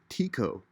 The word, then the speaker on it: Tycho: he'd said that that's a lot of people like to call it Tico is the possibly the more correct pronunciation which I don't like so I disagree with that I'm gonna go with Tyco but um enough for